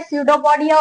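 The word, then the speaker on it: pseudopodia: Paramecium जो है उनके सडोपोडिया होता है। इसमें पी साइलेंट है।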